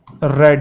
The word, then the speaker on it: read: तो future perfect tense, तो he will have रेड, रीड रेड रेड लिखने में सेम होता है, प्रोनाउंसिएशन डिफरेंट होती है, 4 तो रहेगा, ठीक है।